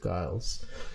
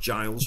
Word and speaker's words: Giles: react and interact with Guiles uh for anyone listening I think Guile's is remastering the Beatles albums now um yeah so he's uh pronounced Giles Giles so it's uh Jazz